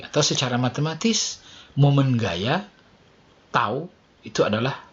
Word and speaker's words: tau: Tau, ini bacanya tau.